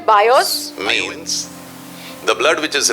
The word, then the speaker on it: bios: Number 1 is the word called bios, B-I-O-S. तो पहला शब्द है बायोस, Means the blood which is related to your body.